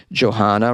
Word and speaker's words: Johanna: This is Johanna. Rhymes with Madonna.